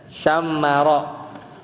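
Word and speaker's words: شَمَّرَ: Bacanya itu adalah bitasdidil mim. Jadi dengan mentasdidkan mim. Jadi bacanya syammara.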